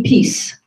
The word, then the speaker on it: Peace: Oh, Peace, like peace, love, and happiness.